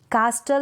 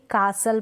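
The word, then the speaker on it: castle: read कर लेते हैं जैसे कि कासल कास्टल नहीं पढेंगे कासल पढेंगे क्रिसमस क्रिसमस नहीं पढेंगे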